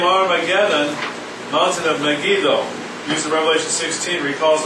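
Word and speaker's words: Megiddo: jezrael valley at megido I don't know how to pronounce that megadoo megido Meo megido is how I heard it but this important city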